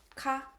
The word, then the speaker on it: か: In Japanese, the word order doesn't change in a question sentence, and the particle ka is pronounced with a rising intonation, like da da da da ka.